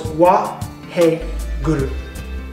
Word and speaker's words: Waheguru: So we're going to break it into 3 syllables, Waheguru.